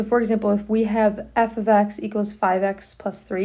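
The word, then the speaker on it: f(x): Okay, that's how you pronounce this is f ofx.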